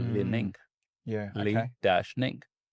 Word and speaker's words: Li Ning: footwear company called Li Ning. Yeah. Li Okay. dash Ning. And he's like, how do you even pronounce that? I'm like, it's like lining, but with a dash in it.